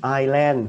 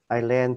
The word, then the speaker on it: Ireland: Có người đọc là Ireland, Ireland. Ireland thì người ta nghe chắc người ta đoán thì chắc nó cũng ra thôi. Nhưng mà nó không chính xác ha. Đọc là Ireland. Ok, Ireland. Chữ ơ đọc nhẹ hơn chữ I. Ireland. Ireland. Ireland. Nhớ đọc chữ D cuối cùng các bạn nhé.